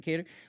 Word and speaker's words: Kattar: I pronounce it Kattar.